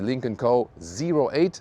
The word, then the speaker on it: Lynk & Co: Let's go with the Lincoln Co.08. That's also how you officially pronounce it.